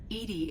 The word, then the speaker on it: EDI: are you named edie edie is the phonetic pronunciation of edi that is an acronym for enhanced defense intelligence what do you do